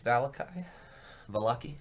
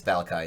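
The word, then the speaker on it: Vallaki: And yeah, you're standing in the rain, probably 3 hours east of Valaki, rather. Sorry, it's Valakai in the other game. Different pronunciations for different games.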